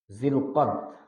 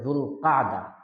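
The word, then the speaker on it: ذو القعدة: জুমাদাল উলা জুমাদাল উখরা রজব শাবান রমাদান শাওয়াল জিরোকদ আরবিতে জুল কাদা আবার বিশুদ্ধ উচ্চারণে জিরকাদা আর আমরা বাংলায় বলি জিলক জুলক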